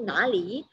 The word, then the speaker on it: 哪里: Jadi nali, kalau kita baca, dia adalah intonasinya ringan, tidak ada tanda nada ya, bacanya harus cepat.